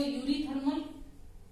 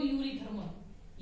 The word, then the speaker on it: Eurythermal: Yuri word कैसे आप करोगे, देखो हम लोग बायो में क्या करते हैं, यू वर्ड क्यों लगाते हैं, या सीधा बोलूं यू, क्योंकि ई तो साइलेंट है।